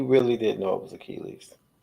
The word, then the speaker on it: Achilles: He really didn't know it was Achilles.